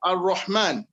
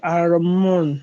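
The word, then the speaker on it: الرحمن: But in the real sense, when you are pronouncing Ar-Rahman, it is raw, not ra.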